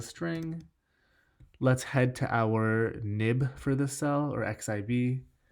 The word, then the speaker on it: xib: let's head to our nib for the cell or xib still to this day ten years later I don't know why people call it nibs even though it's spelt with an X but let's add a